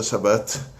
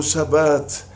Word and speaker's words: Shabbat: eles terminam com T mudo, como Shabbat, como Kashrut, aí a pessoa que nasceu falando português acaba falando Shabbat, Kashrut, e ainda não é só Ti, é T-C-H-I, não Ti. Então, quando a gente pronuncia uma palavra em hebraico, a gente tem que tomar cuidado. Quando tem T mudo, no final é T mudo mesmo, não tem que acrescentar nem I, nem Ti, nem Xi, nem Mi.